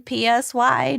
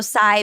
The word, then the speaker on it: Psy: like literally nobody including Psy knew why it just hit man and according did so here's a little bit about I'm I'm saying PSY and also Sai because he pronounces it two different ways like the so his